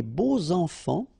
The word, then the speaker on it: beaux enfants: Les beaux enfants, okay, so you make the liaison between beau, so adjective, and enfant. And here it's quite interesting because even if you've got this X, well, phonetically it will be like Z, so like if it would be an S, okay?